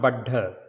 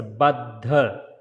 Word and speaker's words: Baddha: Yeah, not Baddha. So, don't say Baddha. It's a Baddha.